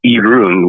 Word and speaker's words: Irún: It's a city called Irún, which is spelled like I run.